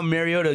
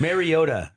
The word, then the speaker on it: Mariota: I don't know how Mariota gives everything he's got and then and throws it right into the defensive end.